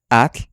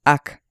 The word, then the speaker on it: atl: africada se considera muda cuando le digo a la gente que tratan de pronunciar at que significa agua muchas veces dicen AC o si digo masat